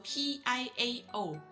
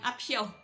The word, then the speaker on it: Piao: So P-I-A-O. Itu bukan Piao, itu Piao. It's P-H-I-A-O. I am Apiao, bukan Apiao.